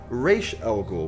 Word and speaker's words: Ra's al Ghul: with the ramifications of Ra's al Ghul, which, as you may have heard, while the DJ was on the phone, he pronounced it Raish al Ghul, which is the proper Arabic pronunciation.